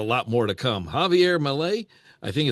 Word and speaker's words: Milei: Javier Milei, I think it's Milei or Millie. What is that? How did we pronounce that, Ben? Malay.